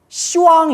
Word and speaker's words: 시왕: 하지만 원래 는 십 왕 ( 十王 ) 이라 고 하는데 , " 십 왕 " 이라 고 발음 하면 어떻게 들리나 요 ? 발음 이 욕설 처럼 들리기 때문 에 "ship" 발음 을 "si" 로 부드럽게 바꿔 "Siwang" 으로 만들었습니다 .